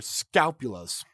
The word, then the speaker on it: scapula: Your shoulder blades are your scapulas. Think of the word scalpel. Think of the word scalpel. Take out the L to scal. That way it's just scapula. Scapula. Or spatula. Scapula. It rhymes with spatula.